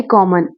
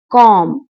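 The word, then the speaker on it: comb: टोकरी, basket, very कॉमन। टोकरी, basket. कंबल, ब्लैंकेट, ब्लैंकेट, कंबल। झाड़ू, ब्रूम, ब्रूम, झाड़ू। पर्दे, कर्टन्स, कर्टन्स, पर्दे। कंघी, कॉम, कंघी, कॉम। ब इज साइलेंट।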